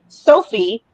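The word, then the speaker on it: SoFi: Sophie, spelled like Wi-Fi, is short for soft robotic fish.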